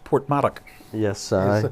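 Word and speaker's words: Porthmadog: funny you know well i do know it's pronounced portmark yes sir that's the correct pronunciation so uh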